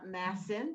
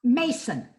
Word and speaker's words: Massin: Her mother was Dona Massin. Am I pronouncing that, or is it Massin? Mason. Mason.